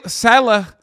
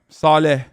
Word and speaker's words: Saleh: hurt you more than say salah hurts the jets i can't say his name right saleh if he's good why